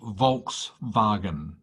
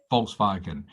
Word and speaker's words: Volkswagen: tell you well i don't know okay it's pronounced volkswagen volkswagen it's a make of german car right so